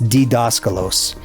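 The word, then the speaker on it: διδάσκαλος: It's actually, well, the D is actually pronounced like a D apparently, so it's Didaskalos.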